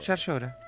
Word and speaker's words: Llaryora: O Yar llora, como se dice en Córdoba.